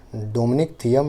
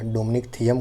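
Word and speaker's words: Dominic Thiem: US open जीता था एक डोमिनिक थीम नाम के प्लेयर हैं, उन्होंने जीता था, ठीक है, डोमिनिक थियम या डोमिनिक थियम कह सकते हैं, ठीक है, इस तरह से स्पेलिंग है, ठीक।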